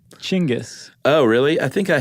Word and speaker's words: Genghis: you Dingus you Dingus you pronounce it chingis oh really I think